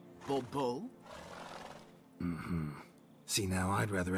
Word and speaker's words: Bobo: Monsieur de Bobo. The emphasis falls on the last syllable. Bobo?